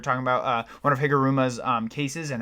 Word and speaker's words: Higuruma: Apparently, I've been saying the name wrong. I've been saying Higurama. I have no idea why. It's spelled out as Higuruma.